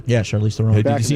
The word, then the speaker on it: Charlize Theron: Yeah, Charlize Theron.